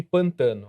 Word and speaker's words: Pântano: Na Pedra do Pântano que fala? É isso? Isso, se escreve pântano, mas os locais chamam de pantano.